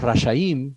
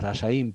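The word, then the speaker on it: רשעים: tres clases de personas los raya INS los rayaín Perdón bien pronunciado Esto es injustos estas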